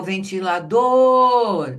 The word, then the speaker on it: ventilador: O cadeira é o D, o ventilador é o dor. E vocês sabem que essa palavra, por ela ser grande assim, muita gente pensa que é o ti por causa do som do t que ele chama atenção.